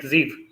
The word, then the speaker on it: Zeeve: Zeeve is pronounced like Zeeve.